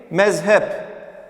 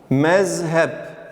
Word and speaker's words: mezhep: normal Z şeklinde okuyacağız Örneğin mezhep mezhep mezhep mezhep şeklinde Peltek Z ile yazıyoruz ancak mezhep şeklinde normal bir şekilde okuyoruz d harfine gelince d